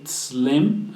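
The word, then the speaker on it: צלם: en hebreo viene de la palabra tzlem, con T al principio, tzlem, así se pronuncia, que significa que es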